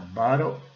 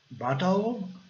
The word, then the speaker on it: bottle: A bottle of wine. Aqui os ingleses britânicos falam bottle. Bottle. Os britânicos falam bottle. E os americanos falam bottle.